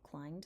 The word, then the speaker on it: climbed: Pearl clambered and climbed did you know climbed has a be in it it's a silent B we'll talk about that